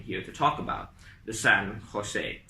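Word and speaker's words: San José: to talk about, the San Jose. Spelt with a J instead of an H as I'm pronouncing it, and that's how the Spanish would have pronounced it.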